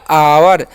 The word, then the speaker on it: our: OU है ना, तो उसका उच्चारण यहाँ पर आव हो जाता है। क्या होता है? आव, ओके। और आर का र, तो हो गया आवर।